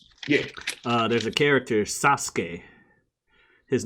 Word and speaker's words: Sasuke: There's a character, Sasuke. His name is spelled like Sasuke. Yeah, that's spelled like Sasuke, really. Yeah, like Sasuke. But it's pronounced Sasuke. Like you just pause on the S a little more.